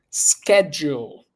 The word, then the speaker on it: schedule: ahead schedule SKU schedule with this word we have the ch right CH as in English we usually say she it's a CH but not for this word this word in this case you're going to use use SC so then you're going to say schedule schedule what's your schedule